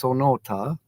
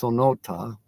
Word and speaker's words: Sonoita: weather forecast for son sonota I am saying it right now it's sonota even though to me it's spelled Sonoita but it's sonota okay I'm learning uh okay